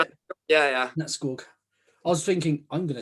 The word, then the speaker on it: Nattskog: And also he's got a YouTube channel called Nattskog. Is that how you say it? Yeah. Nattskog.